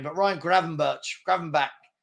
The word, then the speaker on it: Gravenberch: Gravenberch. It's Dutch, so it's Gravenberch. Probably. Bech. Yeah, because they get that. Yeah. Probably Gravenberch. Good play. So McAllister off for Gravenberch and Gakpo off for Jota.